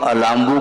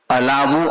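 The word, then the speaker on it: अलाबु: इसके लिए उन्होंने उदाहरण दे दिया और व्यापगत लेप अलाभवत अलांबु नहीं बोलते हैं। कई लोग अलामू का उच्चारण करते हैं। अलावु अर्थात तुमी व्यपत लेप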